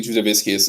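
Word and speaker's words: Jasudavicius: Yeah, I'm taking Juzavicius as well. That's how you pronounce her name, actually. Jazz Devicious.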